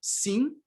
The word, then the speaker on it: sim: And then we have E, livro, and the nasal counterpart, sim. Again, this final M, you don't pronounce it. It's just an orthographic convention. Just nasalize the E and you're good to go.